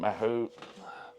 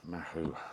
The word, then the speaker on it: Mahou: Mahou, I think you pronounce it Mahou.